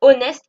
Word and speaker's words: honest: Et là, en l'occurrence le H de honnest ne se prononce pas. Je n'y je ne dis pas honest, je dis honest. D'accord ? Donc je ne prononce pas le H.